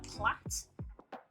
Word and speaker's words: plait: sometimes refer to them as a plat we pronounce it very weird it's spelled plate we pronounce it um the way that you were saying I would literally just